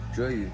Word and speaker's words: Zheyu: Zheyu.